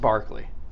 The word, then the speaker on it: Berkeley: like Berkeley California but it's pronounced Barkley because he's an Irish guy okay Barkley argues that we have